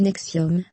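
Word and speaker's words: NXIVM: organisation du nom de nxp m prononcez nexium basée à albany au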